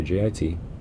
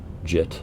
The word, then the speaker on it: JIT: Most hackers just say JIT, JIT, pronounced like it rhymes with fit.